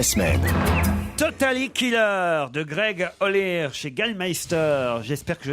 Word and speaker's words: Olear: J'espère que je n'écorche pas le nom de l'auteur, mais je pense qu'on doit dire Greg Ollier. Ça s'écrit O-L-E-A-R. Ollier. Oui, Ollier. Oui, Ollier, comme le roi Lear.